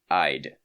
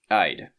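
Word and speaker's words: -ide: Annions, elements that are that become annions, usually change their suffix, the ending of the name to D, pronounced eyid eyid. Okay, cations usually do not change their name when joining a compound.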